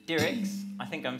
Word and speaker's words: Dirckx: But yeah, you pronounce it Dirckx as in lyrics, and it's Dutch.